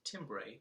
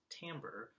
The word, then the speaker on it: timbre: it would be - timbre but it is pronounced Tambor almost like it should be spelled t am ber and the other one